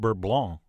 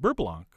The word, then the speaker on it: beurre blanc: And by the way, you keep hearing me say Beurre Blanc, but I believe in French it's correctly pronounced Beurre Blanc, which is exactly why I use the Americanized Beurre Blanc.